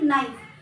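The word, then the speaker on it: knife: जैसे कि नाइफ, तो नाइफ में आपका केस साइलेंट हो जाता है, जैसे कि नाइट, नाइट में भी आपका केस साइलेंट हो जाता है।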